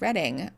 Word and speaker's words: Reading: Reading is pronounced Reading.